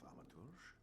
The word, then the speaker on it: thaumaturge: I'm a thaumaturge.